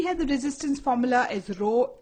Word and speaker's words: rho: greek letter and the name of that we pronounce it as rho it is called resistivity the name of it